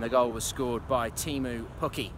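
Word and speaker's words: Teemu Pukki: goal was scored by team ooh cookie or TMO cookie as he has just told me it should really be pronounced didn't finish but I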